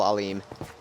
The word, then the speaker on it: Alhim: of the pre-existing forces, the guy in command, he is Brigadier General Alim. Alhim is how it's spelled. Alhim. A-L-H-I-M.